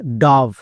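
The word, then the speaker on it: dove: যেমন ডি এর জন্য ডো, ও এর জন্য আকার। কেন? কারণ ও এর পরে ভিই আছে, তাই ও এর জন্য আকার। বোঝা গেল? ভি এর জন্য ভো এবং শেষের ই সাইলেন্ট, তাহলে এর উচ্চারণ ডব হবে না। অনেকেই ভুল করছো, আজকের পর থেকে আর ভুল করবা না। ওকে, তাহলে এর উচ্চারণ কি হবে? ডাভ।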